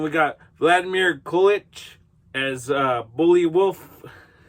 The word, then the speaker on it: Buliwyf: Anyway, and then we got Vladimir Kolich as Bully Wolf. It's supposed to be Beowulf, but they spell it Buliwyf. So it's Bullywolf.